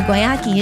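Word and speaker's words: Guayakí: So, Guayaki is the brand. Oh, that's the correct pronunciation.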